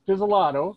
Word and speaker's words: Pizzolato: hit 20 yet i am talking to rachel pizzellato did i say your name right yes you